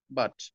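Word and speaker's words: but: আচ্ছা, এটা উচ্চারণ করেন পুট, পুট। আচ্ছা, এইটা উচ্চারণ করেন, বাট। তাহলে পি এর পরে ইউ আসলে আপনি পুট বলছেন, কিন্তু বি এর পরে ইউ আসলে কিন্তু বুট বলছেন না।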